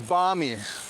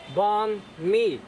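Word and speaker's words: bánh mì: David always says barmy. Oh, That has to be Australian. you think? Or it is for Australians, because I don't know. Or, dear Aussies, you say barmy, right? Or do the Americans say that too? I'm not sure. Because this is the regular one. It's just banh mi. It's Yeah. Banh mi. It's no banh mi. It's I mean- banh mi.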